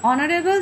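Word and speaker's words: honourable: অনারেবল যেহেতু অ দিয়ে উচ্চারণ হচ্ছে সেই জন্য এইচ এখানে ভাওয়েল না হওয়া সত্ত্বেও এখানে কনসোনেন্ট হলো, এখানে অ্যান বসছে।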